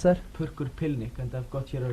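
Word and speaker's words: Purrkur Pillnikk: How do you pronounce that? Purkur Pilnik, and I've got here a review in Conflict 48, Summer 88, a review of it.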